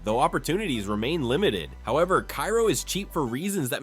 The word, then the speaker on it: Cairo: Strategically positioned at the confluence of the Mississippi and Ohio rivers, Cairo, named after the Egyptian city but pronounced Cairo by locals who will absolutely correct your pronunciation, was founded in 1818 with dreams of becoming the New Orleans of the North.